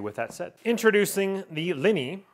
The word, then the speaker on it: Liene: that set introducing the lenny i believe you pronounce it l-i-e-n-e portable printer and this